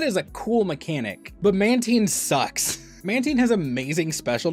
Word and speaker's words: Mantine: Like I made a video like being really militant about the pronunciation of it. It's Mantine, by the way.